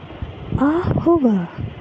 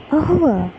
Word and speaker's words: au revoir: So how do you pronounce that? Ahova, ahova, ahova, ahova.